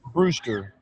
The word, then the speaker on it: Brewster: Brewster.